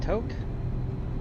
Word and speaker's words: Tok: Coming up on, I think you pronounce that Toke. T-O-K. I think that's the pronunciation of it, Toke.